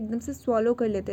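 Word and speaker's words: tsetse: तो ये होती है सीसी फ्लाई, ये टी साइलेंट होते हैं इसमें, इसको सीसी पढ़ते हैं, सीसी फ्लाई, और ये स्लीपिंग सिकनेस की वेक्टर होती है।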